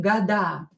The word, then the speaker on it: года: And plural will be года. Года. Года. Года. You can hear that D here is in a strong position. You can hear D.